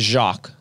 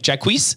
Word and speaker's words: Jacques: I remember growing up, we'd answer the phone and they'd be like, Jacquees?